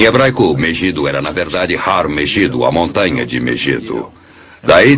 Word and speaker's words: Har Magedon: Em hebraico, Megido era na verdade Har Megido, a montanha de Megido.